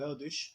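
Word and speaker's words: Erdős: the 20th century by the name of Paul eldish Hungarian Jew and he dedicated all his life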